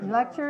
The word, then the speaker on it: lecture: We pronounce lecture. Lecture. Lecture. Lecture. Where is the stress? For one. Right. So 2-1 for lecture.